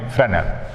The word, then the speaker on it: Fresnel: One is Fresnel diffraction and another is Fraunhofer diffraction. So Fresnel diffraction and Fraunhofer diffraction. You see the name, very long name Fraunhofer and short name Fresnel. S is silent here.